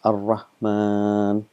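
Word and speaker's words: الرحمن: is written is written as minus but we pronounce s AR Rahman it's another most common word in Arabic beginning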